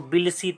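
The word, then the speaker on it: Tbilisi: जो जॉर्जिया की राजधानी थी वो बिलसी थी। इसमें टी साइलेंट है, तो उस देश की राजधानी जॉर्जिया की बिलसी थी।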